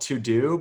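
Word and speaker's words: TeuxDeux: got this new app called to do but it's spelled like t-u-e-x-d-u-e-x weird a weird spelling but it's a to-do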